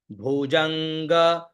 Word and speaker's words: भुजंग: वलंब्य लंबिताम ठीक है भुजंग भुज अंग और ग तो भुजंग तुंग भुज अंग आधा